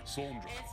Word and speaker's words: Sandra: SAHNDERAH. That's how you pronounce Sandra.